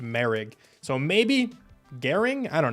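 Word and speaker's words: Moehrig: It's M O E H R I G. And it's pronounced Merig.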